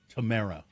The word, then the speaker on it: Tamara: It's my sister-in-law's name is Tamara. Tamara. Not Tamara.